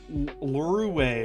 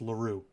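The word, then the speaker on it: Larue: everybody hell even uh luru or whatever however his name is pronounced did more against sakuna than kosimo like no it's not that it was it's not pronounced that way it's laru that's his name laru laru ass did more against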